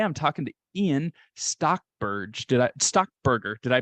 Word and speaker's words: Stockberger: your host today I'm talking to Ian stockberg stock Burger did I pronounce that right stock Burger there you go you got it all right